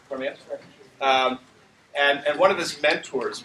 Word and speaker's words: Kuromiya: How do I pronounce his last name? Kuromiya.